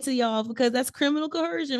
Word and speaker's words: coercion: point 406 criminal Co I always say it wrong coercion I always think there should be an H in there but there's not a lot of people say it cooran you can't see it